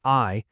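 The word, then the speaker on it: 愛: If you look at the Japanese orthographic tradition, the kanji for love, which is pronounced "ai", requires exactly 13 brush strokes to write.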